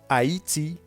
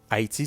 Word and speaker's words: Haïti: i comme d'un système le heat rema le i avec les deux petits points dessus ça se prononce comme y/y com eyi comme dans haïti haïti c'est le nom d'un